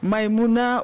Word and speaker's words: Maïmouna: À présent, coaching avec Maïmouna j'espère que je prononce bien. Maïmouna, c'est bien ça?